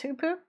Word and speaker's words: Hoopoe: ask the internet see it implies that it's Hoopoe with its little pronunciation key so guess who poo so fun fun hoop